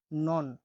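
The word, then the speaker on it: non: পরবর্তী অক্ষরটি হলো এন, এন এর উচ্চারণ হয়ে থাকে দন্ত ন এর মতো, ন হিসেবে। উদাহরণ দেখুন, নন, নন মানে রুটি, আমরা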